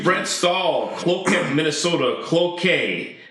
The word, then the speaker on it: Cloquet: Cloquet is the pronunciation, not to be confused with cloaca.